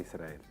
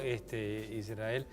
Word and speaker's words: Israel: la declaración de la independencia del Estado de Israel.